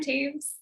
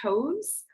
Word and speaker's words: Taves: Her name is pronounced, or sorry, her name looks like it would be pronounced Toes, but it's Taves apparently.